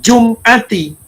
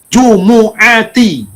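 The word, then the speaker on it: جُمُعَةِ: Bacanya bukan jum'ati, jumu'ati.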